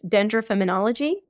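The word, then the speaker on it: Dendrofemonology: we're referencing is and tell me if I'm pronouncing this correctly it's dendr feminology exactly correct and it's a word that I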